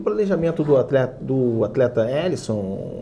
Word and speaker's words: Alisson: O meu destaque é um destaque negativo, que é o belíssimo goleiro Alisson, seria a pronúncia correta do nome desse goleiro, às vésperas da Copa,